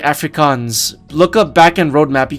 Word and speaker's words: Afrikaans: Yes, you're saying it right, Afrikaans.